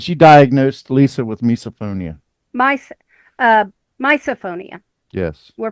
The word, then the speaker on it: misophonia: Misophonia. Yes. We're pronouncing it misophonia now.